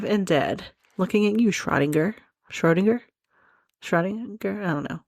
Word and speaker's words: Schrödinger: found on YouTube says that you pronounce it Schrödinger. Ugh, I am just so stupid right now. But, because I'm American, Schrödinger is probably the right way to pronounce it.